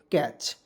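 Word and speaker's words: catch: अ के रूप में टी को इसमें साइलेंट करके सीच से च लिख देंगे क्या हो जाएगा दोस्तों कैच तो क्या हो जाए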